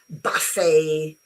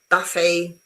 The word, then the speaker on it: buffet: Uh very often French words um like ballet, uh gouet, uh buffet, when they end with a t in English, you forget about the t and you put the sound a. Yeah. ballet, buffet, gourmet and etc.